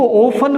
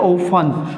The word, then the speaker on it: often: इसी प्रकार OFTEN, ध्यान दीजिएगा, OFTEN, इसको ओफन बोलते हैं, टी साइलेंट है। क्या बोलते हैं, ओफन।